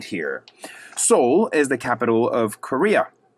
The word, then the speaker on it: Seoul: Seoul is the capital of Korea.